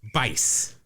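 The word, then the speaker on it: Buice: pronounce it but it's it's spelled juice but with a B oh it's Bice Blaine Miami Vice oh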